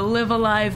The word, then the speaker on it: Live A Live: the cube story and live alive sorry it's pronounced live a live oh flamethrower more fire